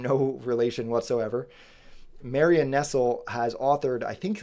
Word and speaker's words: Nestle: her name is Marianne Nestle. She's awesome. Her name is spelled like Nestle, but not said the same, no relation whatsoever. Marianne Nestle has authored, I think, like 17 books at this point.